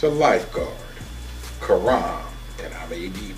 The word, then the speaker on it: Karam: It's a lifeguard, Karam, and I may be pronouncing it incorrectly, but it's K-A-R-A-M, Karam Gulkham, G-U-L-K-H-A-M, and he's a lifeguard manager at that pool.